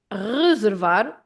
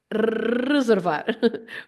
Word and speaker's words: reservar: About the sound r, In Lisbon, for example, it is pronounced with your throat. So they say reservar, reservar, using your throat. Here in central Portugal, Coimbra area where I am, we use our tongue to say reservar with our tongue.